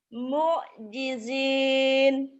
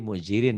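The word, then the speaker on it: مُعْجِزِينَ: Coba lagi. mu'jizin. Baru bener. Tadi muzirin ya kalau nggak salah. Bener kan tadi muzirin ya? Bacanya roh ya? Mu'jizin, saya bilang gitu, Pak. Oh, tapi kedengarannya kayaknya tadi mungkin artikulasinya kurang jelas. Seperti Iya. mujirin gitu ya.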